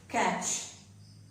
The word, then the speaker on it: catch: So the T is then silent. It is not pronounced. For example, catch.